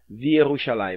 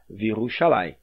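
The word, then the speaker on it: וִירוּשָׁלַיִם: Então nós temos aqui, ó, Virushalayim, ao invés de Vierushalayim. Então você não vai pronunciar Vierushalayim, vai pronunciar Virushalayim.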